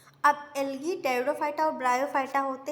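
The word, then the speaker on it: Pteridophyta: गया एंजियोस्पर्म हो गया टेरिडोफाइटा में पी जो होती है वो साइलेंट हो जाती है और जो टेरिडोफाइटा होता है इसमें वैस्कुलर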